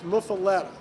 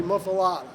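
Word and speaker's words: muffuletta: went straight to the source the correct pronunciation pronunciation is muffaletta but most people say mufa but we don't try to change that because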